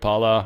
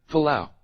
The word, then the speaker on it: Palau: Yeah, how to pronounce Pala. I had to look that up. Couldn't spell that. What else did I look up? What other crazy shit? Pala. I hear it. Let's listen, guys. Let's listen together. Palau. Oh, it's Palau now?